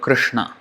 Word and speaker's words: Krishna: Chris you know Krishna it's not cream this are with dot is not equal to this it's not i'm congesting your whole thing is congested with here I'll draw it this is not equal to this so it's Krishna it's not Krishna or Krishna Krishna not re not root Nara Krishna Krishna so that's the actual pronunciation of the word Krishna okay although I'm saying